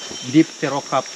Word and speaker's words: Dipterocarp: And also our tropical rainforest, also known as a deep terocarp lowland rainforest.